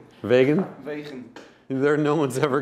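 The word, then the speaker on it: Wegen: and uh it's made by a company called wegan it's uh in in Holland I believe right vegan ve there no one's ever going to pronounce it like that wean yeah spell w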